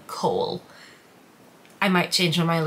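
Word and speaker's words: Chaol: want to do that i don't want to call him kale therefore i will be calling him cole i might change my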